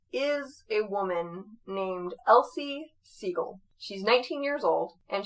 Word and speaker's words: Sigel: is his granddaughter yes um sorry you're saying seagull like s-i-e-g-e-l s-i-g-e-l but it's pronounced as equal okay my brain sorry okay